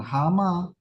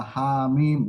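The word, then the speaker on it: حم: itu H mim Jadi bukan bukan hama ah h mim begitu bacanya Ya Hurufnya yang dibaca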